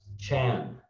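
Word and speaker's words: 禪: In China, Zen is pronounced Chan.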